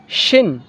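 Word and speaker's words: شين: আর এটা শিন তালবেশ যেমন হয় শিন শিন সিন শিন সোয়াদ দোয়াদ সোয়াদ দোয়াদ সোয়াদ দোয়াদ সোয়াদ দোয়াদ।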